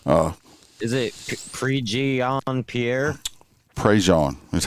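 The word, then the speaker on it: Prejean: Prej is how it's pronounced here. Prej not pre gene or no.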